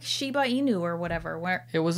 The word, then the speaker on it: Shiba Inu: though yeah but what so i would always say sheena ibu right and then you'd mix it up a little bit but then you've got shiba inu yeah okay so just